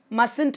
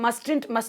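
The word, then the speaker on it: mustn't: Haven't, மஸ்ட் நாட் அப்படின்றது மஸ்ன்ட் அப்படின்னு மாறும். இதை நிறைய பேர் மஸ்டன்ட் அப்படின்னு ப்ரொனவுன்ஸ் பண்ணுவீங்க, which is wrong. Correct pronunciation is மஸ்ன்ட் அப்படின்றது தான். டு not, don't, does not,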